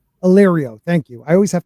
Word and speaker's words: Illyrio: Illyrio.